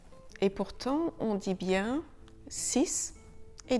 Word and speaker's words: six: Le X de 6 et 10 se prononce [z] quand il est suivi d'une voyelle: "six amis", "dix amis".